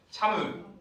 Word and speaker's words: 참외: 여러분들이 읽듯이 참외라고 읽으면 이건 이중모음의 발음이죠, 그죠? 단모음으로 발음하면 어떻게 되겠어요? 정확히 발음하면 참의.